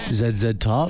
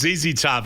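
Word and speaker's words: ZZ Top: So Ryan, how do you say the name of that band? Zed Top. So Zed Top. Are they American? Yeah, they are. It was a Zezy Top thing. It's Zezy Top.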